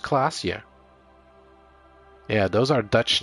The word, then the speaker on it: Klaasje: Klaasje is pronounced Klaasje.